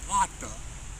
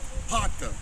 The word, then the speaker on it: pater: It's gonna say pater, pater.